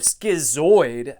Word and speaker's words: schizoid: from professor gerding when i think of schizoid it rhymes with android and i think of